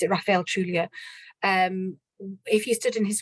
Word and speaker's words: Trujillo: And it was a really kind of brutal time, and those who stood in his way, and it's a Trujillo, I think you pronounce it, Rafael Trujillo.